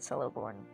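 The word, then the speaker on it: Celeborn: the full tale said coborn I'm going to be pronouncing it with an S until tell someone fully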